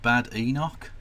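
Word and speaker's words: Badenoch: Leader of the Opposition, can he bear the It's pronounced Bad Enoch, please.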